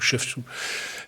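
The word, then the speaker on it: Chevtchouk: je vais dire un nom assez difficile à prononcer, Shevtchou. C-H-E-V-T-C-H-U, Shevtchou.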